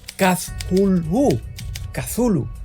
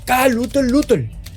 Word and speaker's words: Cthulhu: cuento la llamada de pronunciando aquella palabra como kazulu kazulu de repente lovecraft se sorprendió y más tarde me corrigió diciendo que debería pronunciarse kal lutel lutel me sorprendió y le